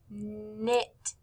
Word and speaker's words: knit: the words knife and knit. Knife, knit. Both of these words begin with the K, N, but since the K is silent, we just hear the N.